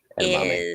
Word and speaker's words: edamame: The member icon, the 2-month member icon, Edamame is edamame. kind of rhymes with garame.